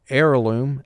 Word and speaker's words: heirloom: So here we have a wave sign under the H, Because in the word heirloom, H is completely silent.